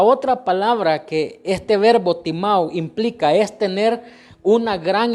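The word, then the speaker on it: τιμάω: la palabra honra viene del verbo que se pronuncia timao y ese verbo significa tres cosas número uno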